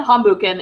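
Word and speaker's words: Hambüchen: BF Lee let's talk about him so Fabien hum bukan is how you say his last name thank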